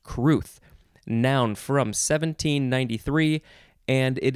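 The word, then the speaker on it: crwth: r w t h w isn't usually a vowel but in this case it is uh this this is one of those fun welsh words c-r-w-t-h is pronounced cruth noun from 1793 and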